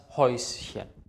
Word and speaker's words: Häuschen: Und das Häuschen. Das Häuschen ist ein sehr, sehr kleines Haus. Die Häute, die Mäuse, das Häuschen. Ä und U zusammen wird immer Eu ausgesprochen. Ganz wichtig ist das SCH.